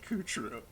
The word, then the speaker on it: Coup Troop: Troop, but we pronounce it Coup True.